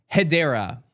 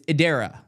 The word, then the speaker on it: Hedera: back then I said hedera and that's not how you say it it's Adera you don't say the H the H is silent I didn't know that